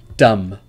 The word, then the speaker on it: dumb: not pronounced for example dumb comb bomb thumb and climb there is no B sound in any of these words so be careful with